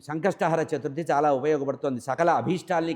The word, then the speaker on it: సంకష్టహర: తీరడానికి ఉండేటువంటి ఈ చతుర్థిని సంకష్ట హర చతుర్థి అంటారు మనవాళ్ళు తెలియక సంకట చతుర్థి సంకట చతుర్థి అంటారు అంటే సంకటాలు రావడానికి కోరుకున్న చతుర్థి లాగా ఉంటుంది మన ఉచ్చారణే తప్పు సంకష్ట హర కష్టాల్ని హరించాలి అని చెప్పాలట సంకష్టహర చతుర్థి దీనివల్ల సంతానం కావాలన్నవాళ్ళ సంకట సంతానము